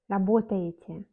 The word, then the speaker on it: работаете: On écrit Ye, работаете, mais Ye n'est pas accentué dans ce cas, donc on prononce comme I, работаете.